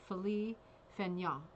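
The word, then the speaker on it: Félix Fénéon: paul siniak and it is of it's actually pronounced philly fenya and he was this this person who's being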